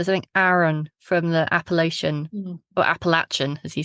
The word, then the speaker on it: Appalachia: He explained that the way you remember how to say it is it's as if someone threw an Appalachia. Appalachia.